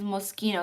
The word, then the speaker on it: Moschino: Um, Mo the pronunciation is Moschino.